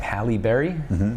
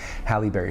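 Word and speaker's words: Halle Berry: more like um I don't know how to pronounce her name Hal Berry yeah that's her that's how you say her name Hal Berry she was like dark she's my ex-girlfriend was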